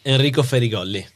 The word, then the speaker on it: Enrico Ferigolli: In fact, you pronounce your name so we can get the exact Italian pronunciation. Sure. Enrico Ferol.